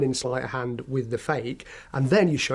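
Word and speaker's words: feke: because it's not a real egg okay a fake is something that looks real but it's not and it's spelled f-e-k-e sort of magician's terminology a gimmick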